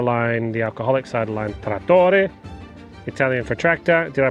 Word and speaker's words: Trattore: So 3 generations later, you've named your cider line, the alcoholic cider line, Trattore, Italian for tractor. Did I pronounce that correctly? Trattore.